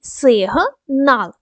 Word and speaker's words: сигнал: спробуйте зробити тепер перевіримо сигнал ділимо на склади 2 склади сигнал наголос у нас на другий склад на літеру А даємо характеристику кожному складу